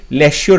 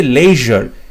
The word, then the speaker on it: leisure: দেখো লেজার LESURE, লেশিওর হয়ে যাচ্ছে, এটা সঠিক উত্তর হবে না। লিজারে LEZURE, এটাও সঠিক উত্তর হবে না। তারপরে বলছে লেজার, কথাটার উচ্চারণ হচ্ছে লেজার, সো LEISURE, লেজার, so option C হবে রাইট আনসার।